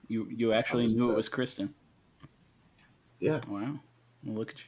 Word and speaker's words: Christine: But I was researching him, and there was an actual pronunciation of his name, and it was Kristen.